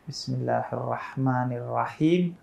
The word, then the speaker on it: Bismillahirrahmanirrahim: Misalnya Bismillahirrahmanirrahim dan Bismillahirrahmanirrajim misalnya, itu beda titik doang.